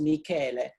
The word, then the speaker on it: Michele: Your name is spelled Michele with one L, that in Italian is Michele. So when you go to Italy, it's always a problem for you. You have to explain your first name.